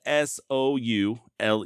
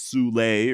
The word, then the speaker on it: Soule: last name it's spelled s o u l e I've heard people say it the way I've been saying it's soul and I've heard them pronounce it as sule or even Su hell